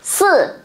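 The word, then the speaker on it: 四: Các bạn để ý cho cô nhá, số 4 mình sẽ đọc là sư.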